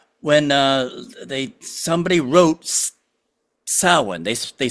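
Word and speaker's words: Samhain: you when you deal with Irish uh Gaelic it's very rarely pronounced the way it's spelled okay so you have Sam spelled s a m h a i m but it's pronounced sin and and just the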